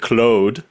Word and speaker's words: Claude: Being Canadian, I pronounce it clo because it's a French name. I don't sound wrong. So, I've been using Clode and one of the